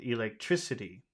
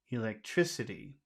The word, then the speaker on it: electricity: So in that word electricity, which syllable, that's a pretty long word, which syllable has all of the sound? Electricity, electricity, electricity.